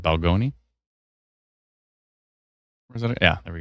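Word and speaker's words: Balgonie: Not Bologna. It's hold on. I always pronounce that wrong. Is it Balgoni?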